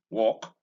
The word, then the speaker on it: walk: And it occurs in the A in chalk, in walk, in talk. All right. Now notice once again that the L in each of these words is silent.